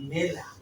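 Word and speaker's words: mela: এরপরে যে ওয়ানটি রয়েছে এম এ মেতে কি মেলা মেলা মানে কি আপেল এটা বাংলাদেশের মেলা ঠিক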